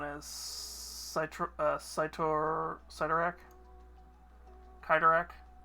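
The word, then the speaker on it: Cyttorak: Cyro uh CYO cyak kidak it's I'm trying to see how it's pronounced because it's not kaitor yeah kidak um basically kidak uh species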